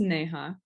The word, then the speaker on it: Neha: It's pronounced Neha, but it was a good try.